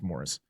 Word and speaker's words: Maurice: characters because even more Reese or Morris sorry his name is Morris even though it's spelled Maurice he he was not